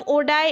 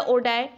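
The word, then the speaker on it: Oddi: Next, the sphincter of ओडाई is present between. Sphincter of ओडी या ओडाई, pronunciation depends on यू.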